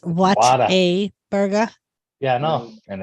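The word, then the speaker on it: Whataburger: do you know that it's not called Water Burger it's what a burger yeah I know and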